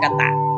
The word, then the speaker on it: กตะ: กตะ อธิบาย ได้ ว่า อักษร ที่ ไม่ มี เครื่อง หมาย ใด อยู่ บน หรือ ล่าง และ ไม่ มี สระ ใด ๆ กำกับ ให้ อ่าน ออก เสียง เป็น สระ อะ ทุก ตัว เช่น ถะ ให้ อ่าน